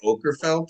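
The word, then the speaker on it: Åkerfeldt: It's probably Okerfeldt cuz it it has a a dot over the A, doesn't it?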